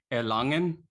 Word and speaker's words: Erlangen: Erlangen.